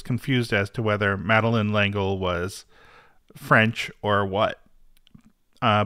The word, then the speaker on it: L'Engle: meline langle correct and I did check on how it's pronounced yeah I I did too I checked Wikipedia and Wikipedia uh confirmed that it is langle let me ask you